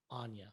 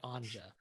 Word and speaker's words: Anja: I was like, oh, Anja or Anja. But then you're like, my name is Anza.